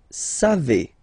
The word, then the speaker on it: savez: Then vous savez. Classic ending for vous, EZ, but then phonetically it's et.